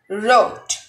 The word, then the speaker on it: wrote: In this word, the letter W is not pronounced and it's silent. So it will be wrote. Not wrote. It's incorrect. The correct one is wrote.